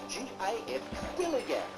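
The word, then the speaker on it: DILLIGAF: In a word, dilly-gaff. That's spelled D-I-L-L-I-G-A-F, dilly-gaff.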